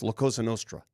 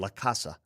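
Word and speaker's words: La Cosa Nostra: First of all, Cash Patel mispronouncing it's Lakosa Nostra. He kept saying Lacassa.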